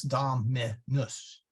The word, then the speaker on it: Dominus: put the accent there so that's why we say da menus okay and by the way um sorry Dominus try not to make it rhyme with noose there uh you'll catch me I'll catch myself at it every now and then but it's Dominus short u so then you would